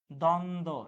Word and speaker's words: দ্বন্দ্ব: দ্বন্দ্ব, এখানেও ব ফলার উচ্চারণ হচ্ছে না।